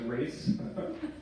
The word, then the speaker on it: Race: So my name is Race. It's spelled like R-A-C-E, like run race.